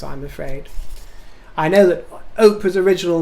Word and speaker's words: Oprah: telly insists on calling oprah win oprah winfrey opera and insists on calling doria uh what all